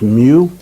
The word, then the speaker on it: mu: a nanometer micro and that symbol you see over there is mu is pronounced mu and then melee we're